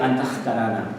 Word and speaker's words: Antahkarana: Bien, Antakarana, bueno, se pronuncia Antakarana, como brazo.